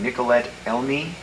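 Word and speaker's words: Nicoletta Elmi: what about the girl um i think you pronounce the name nicolette elmie yes you used her young girl and then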